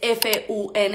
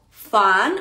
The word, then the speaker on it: fun: F u n e Yo escucho mucha gente que dice fun fun y recuerden la u cuando está en una palabra Y esa palabra solamente tiene una sola vocal se dice como a Okay entonces en este caso